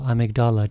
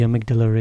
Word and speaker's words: Amygdala: say for sure now the area boss is amygdala or amygdala depending on how you prefer to pronounce it there's no a lot